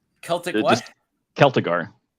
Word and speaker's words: Celtigar: Just Celtigar. Celtic it's just Celtigar with a hard C.